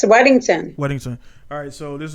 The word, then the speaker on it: Weddington: your current name is how do you say your last name wedded weddington yes wedington wedding sir alright so